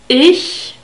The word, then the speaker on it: ich: closer to the sound it's formed with the middle part of the tongue and the palate ich ich heisse ax is